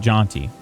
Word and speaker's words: Jonty: Jaunty's the kid's name. Yeah, that's... Although it's spelled Jonty. Like Ponty's Pizza. But Jaunty.